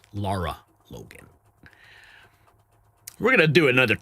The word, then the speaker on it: Lara Logan: Just hours ago, federal whistleblower Colonel Timothy Shin Shind Chindelier went on camera with Laura Logan. Brian, take it over. I I I I mispronounce those things. It's Lara Logan, we're going to do another take, guys.